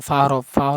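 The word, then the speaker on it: ف: সাথে উপরে দুই দাত নিচের ঠুটের পেটের সাথে লাগি উচ্চারণ করবেন ফাতা বের করবেন ফা ফা ফা ফা ফা ফা ফা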